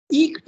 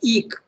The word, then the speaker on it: eke: So the word eke, okay, it's pronounced eke. Normally we pronounce it as ek, but it is not that.